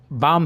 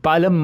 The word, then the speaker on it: बाम: ये L silent है तो यहाँ पे बाम ही पढ़ना है इसे दोस्तों, ये बालम मत पढ़िए।